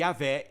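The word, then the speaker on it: Yahweh: do nome de Deus que é pronunciado Jeová em português e a Veia no hebraico agora para ajudar a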